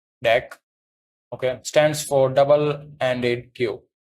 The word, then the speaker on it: deque: So DQ, pronounced Deque, okay, stands for double-ended queue, a collection that supports insertion and removal at both ends.